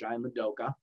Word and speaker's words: Ian Udoka: But I think that there's a lot of optimism right now because of the new coach, Ian Udoka, who's coming in, that's going to try and get this team back on the map here.